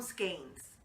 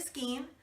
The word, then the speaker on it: skein: is spelled S-K-E-I-N, and if you take the traditional anglicized view on letter pronunciation, E-I, I before E, except after C, you actually pronounce it the first vowel, which is an E. That's the way I do it. But if you think in terms of sensei, S-E-N-S-E-I, then it would be an A sound.